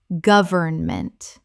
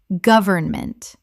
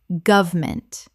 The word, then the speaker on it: government: deterioration deterioration Word 293 government Common mispronunciation goverment Correct pronunciation government or goverment Three syllables in careful speech. Often reduced to two in natural speech.